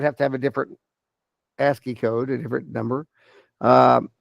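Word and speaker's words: ASCII: so this is where asky ACI I it's pronounced asky they the American Standard code for information exchange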